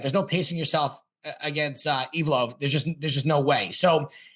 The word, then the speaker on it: Evloev: Evloev, yeah.